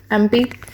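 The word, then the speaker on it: MP: एम करके लिखोगे, pronunciation तो ऐसी है ना, एम पी, ठीक है ना, एम पी, ठीक है। तो इस एम की प्रोनाउंसिएशन ए एम है। ए क्या है? एक वावल है, वावल होने के नाते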